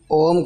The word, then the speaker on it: ओम: ओम के उच्चारण में पहले पूरा श्वास भरना है और धीरे-धीरे ओ का उच्चारण वन थर्ड में उसके बाद म का उच्चारण फिर पूरा श्वास खाली